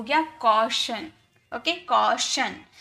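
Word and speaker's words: caution: कॉशन इसे टन नहीं पढ़ेंगे। ये शन है टी आई ओ एन शन।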